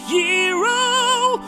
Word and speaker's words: gyro: He's going to get a gyro, although it's technically pronounced hero. Although I still want to call it a gyro, because it sounds cooler.